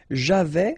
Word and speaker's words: j'avais: Okay, so j'avais, final S not pronounced, tu avais, final S not pronounced, il avait, final T not pronounced, elle avait.